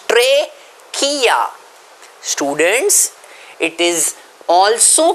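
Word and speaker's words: trachea: respiratory tract pipe treia students please remember Tre k how do you pronounce it Tre K okay some students by mistake call it tachia it is not tachia it is traia students it is also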